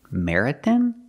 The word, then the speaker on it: marathon: vocabulary Marathon vocabulary Marathon Marathon the word is pronounced Marathon the third syllable has an o and it's pronounced with the sound a like hot and stop Marathon Marathon not Marathon